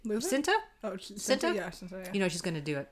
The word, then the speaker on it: Cinta: You just know he's at at at the hands of how do you pronounce her name? Cinta.